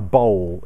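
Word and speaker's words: bole: What I've had to do is I've had to take all of the old finish off, and then I prepare a bowl. It's spelt B-O-L-E.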